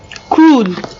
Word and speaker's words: cruel: Cruel. Here E is silent. Cruel.